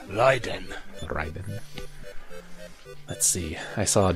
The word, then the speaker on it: Raiden: Or as it's supposed to be pronounced, Raiden.